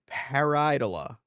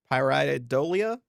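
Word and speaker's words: pareidolia: And that's what parad how do you pronounce this again? It's a paridola. Paridolia.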